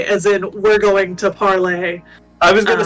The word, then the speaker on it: Parler: the way it's uh i believe it's actually technically supposed to be pronounced parlay um but that's a whole other rant it is not i don't think that's your spell parlay um but i believe it i believe it is be parlay as in we're going